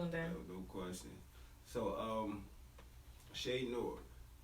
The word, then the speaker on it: Noir: but I was like let's just pronounce it nor like you know so